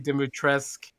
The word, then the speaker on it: Dimitrescu: Lady Dimitrescu, the one that everybody wants to have step on them or whatever. You know? Yeah. So the U is silent for everyone who's listening to this.